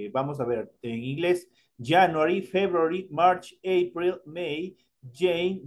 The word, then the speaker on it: January: January se escribe January, pero se pronuncia January como estuviera con una L. January.